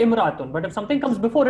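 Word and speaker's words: امرأة: So but the alif is only pronounced when it comes first at the starting.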